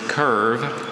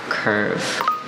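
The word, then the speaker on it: kirve: The word is curve, and it means to undercut coal in a mine.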